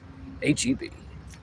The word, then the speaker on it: HEB: You have to say the letters, because if you pronounce it, people think you're racist. HEB.